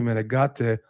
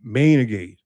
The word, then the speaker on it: Menegate: This is an easy win for Wesley Menegate, or Nick Strength and Power keeps calling him Mainegate. And how doesn't he watch any other channels and hear how it's pronounced?